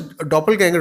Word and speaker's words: doppelganger: It is a quite common word which is generally used in English language, but this is a German word. It's pronounced as doppelganger only.